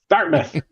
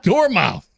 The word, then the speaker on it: Dartmouth: correct I'm sure the natives pronounce it another way dmouth Dartmouth it's called it's photom but it's still door mouth yeah yeah don't ask